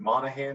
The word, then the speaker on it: Monaghan: remember too is uh so much is it monahan that's how you say it michelle monaghan like with it when this movie came out